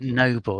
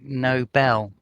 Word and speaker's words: Nobel: He didn't quite pronounce it Noble. It was more like No Bell, but could it be the name of the company?